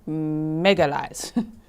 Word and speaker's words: Magalhães: I do like that pronunciation correction. Magalhães.